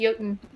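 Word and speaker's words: Jötunn: It's J-O or J-U-T-O-O or T-O-N-N, I think, but it's pronounced Jotun.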